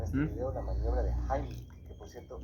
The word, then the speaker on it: Heimlich: Bien, vamos a ver en este video la maniobra de Heimlich, que por cierto, esa es la pronunciación correcta porque está en alemán, la mayoría dice Heimlich, pero bueno, se entiende de qué se trata.